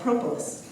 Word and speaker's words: propolis: Once the resins are inside the colony, we call it propolis, or propolis. Tomato, tomato, it doesn't matter how you say it, okay?